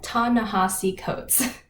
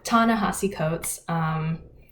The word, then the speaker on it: Ta-Nehisi Coates: Ta-Nehisi Coates. It's spelled differently, so that's why. Yeah, Ta-Nehisi Coates.